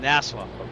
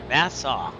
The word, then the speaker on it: Nassau: So I'm not nervous, but it's just been a while flying over open water here from NASA. Nassau. Nassau. Got to pronounce that right.